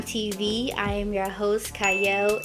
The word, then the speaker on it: Qiayel: I am your host cyle it is spelled with a q but it is pronounced cyle and today I have